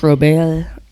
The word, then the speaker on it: Robert: runs they have one seed we got Luis robay Robert yeah that's how you pronounce it is it yeah I thought it was Robert it's okay 20 and he has 25 bombs against Ali ruchman who has 11.